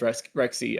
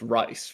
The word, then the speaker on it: Rexy: we found out that Rexy was not pronounced was not pronounced Rex Rexy and in fact pronounced Rice right if you're about to ask me about Hosag.